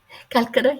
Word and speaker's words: Calcutta: And you're from Calcutta? Calcutta, yeah.